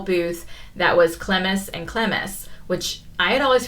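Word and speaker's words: Clemes: that was cemus and clemis which I had always pronounced Clems and clms but apparently it is two syllables so I learned that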